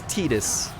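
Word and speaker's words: Tidus: I'm assuming it's Titus. It's based on Tide. It's Titus. Is it? It is Titus.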